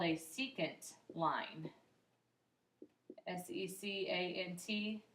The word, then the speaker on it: secant: a special name it's called a secant line s e c a n t pronounced secant okay so that is is um kind